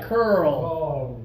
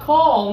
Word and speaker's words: curl: do it right a give it a try curl not call no that's a we want that's better Cur